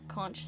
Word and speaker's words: conch: Yeah, so like the little animals that live inside the conch shell. Oh. Conch shell? It's Conch actually shells. called conch. I've heard it pronounced both ways.